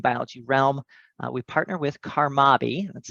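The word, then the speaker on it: CARMABI: in the marine biology realm we partner with karmaby that's spelled c-a-r-m-a-b-i which stands for the caribbean research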